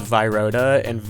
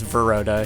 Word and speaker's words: Veroda: At the time, the glitchless world record holder was Viroda, or actually his name's Veroda. He recently just told me that I've been pronouncing his name wrong my entire life.